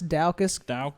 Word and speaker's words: Daukaus: Olenek, how do you pronounce that? Daukaus? Daukaus. Chris Daukaus.